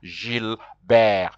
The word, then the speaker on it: Gilbert: is who's his friend Gilbert who in French is Jill Bear because now you have